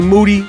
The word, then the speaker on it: Moody: Michael Rapaport, GMoneti, G Moody, last name rhymes with duty.